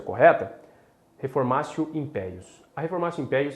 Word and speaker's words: reformatio in pejus: reforma raça impérios é impérios né que a pronúncia correta reformasse o impérios a informação império é a proibição de reforma